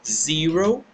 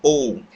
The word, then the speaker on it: zero: ceder e fica diferente nós pronunciamos ele como ciro mas também podemos pronunciar o como ou porque ou porque quando nós